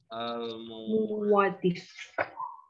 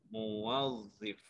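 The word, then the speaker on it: موظف: Aywa al-muwadzif. Muwadif. Bacanya muwadif. Al-muwadzif. Muwadzif. Karena harus jamak al-muwadzifat.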